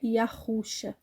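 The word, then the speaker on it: Yahusha: que tá escrito aqui Originalmente as letras são essas sem sinais massoréticos e o som dela é yuxa é o nome do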